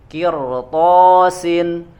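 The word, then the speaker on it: قرطاس: kirtosin coba ya disitu ro Ya Sukun sebelumnya kasroh tapi karena setelahnya huruf isti'la tetap maka harus dibacanya tebal ya ada di surat itu surat at-taubah eh al-an'am ya al-an'am ayat ke-7 qirotosin enggak boleh tipis harus tebal Kill kemudian yang keempat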